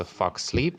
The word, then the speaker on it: Fuxleep: Все его вечно пишут неправильно, он произносится Fuck Sleep, но пишется F-U-X-S-L-E-P.